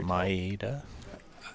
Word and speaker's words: Maeda: So that's how you pronounce it, Maeda. Yeah, Good. Maeda. That's the way I say it.